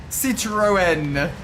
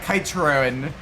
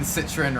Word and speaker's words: Citroën: Citroën. Well, I think when I was a kid, I called it Citroën. Oh, the poor French hearing that.